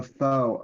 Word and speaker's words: faux: A faux Obama. That's how that's pronounced.